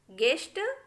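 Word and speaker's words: guest: The letter you इज not pronounced when it comes after ji and before A vowel in a word. देखिए यदि जो है यू जी के बाद आए और यू किसी वोवेल के पहले हो, उस कंडीशन में हमें यू को साइलेंट रखना है। देखिए तब क्या हो जाएगा, ये गाइड, गेस्ट, गार्ड, गेस, इस तरीके से हो जाएगा। हमने यू को कहीं पर भी नहीं पढ़ा।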